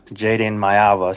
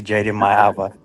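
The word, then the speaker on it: Jaden Maiava: I heard the announcer pronounce Jaden Mayava, so I'm gonna have to switch it back to Jaden Mayava.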